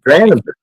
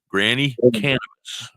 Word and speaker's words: Granny Cannabis: and you were like how do you say it and I was like granis no granny cannabis I gotta story it